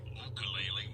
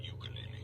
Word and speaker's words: ukulele: harmonica, mandolin, banjo, fiddle, ukulele is the proper pronunciation. Yeah, it is. Sounds weird but it is right. ukulele, not ukulele, apparently.